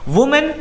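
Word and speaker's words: women: वुमेन, अब ये बन गया वीमेन, इसका प्रोनाउंसिएशन भी थोड़ा चेंज होता है, ये होता है विमेन, ये है वुमेन और ये है विमेन।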